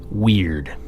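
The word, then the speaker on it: wyrd: within yourself part one weird weird pronounced like the English word weird but spelled wyr Dean is a Norse and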